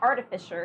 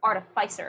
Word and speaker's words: artificer: __ ] recently that it's not artificial it's artificer and I'm trying to